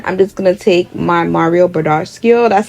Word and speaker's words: Mario Badescu: I'm just gonna take my Mario Badescu, that's how you say it.